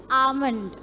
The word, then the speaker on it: almond: It's almond. Okay? The sound is not a, it is a. A, L is silent.